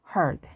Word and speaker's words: heard: 같은 철자라도 발음이 제각각입니다. 특히 hear, heard, 듣다, 들었다.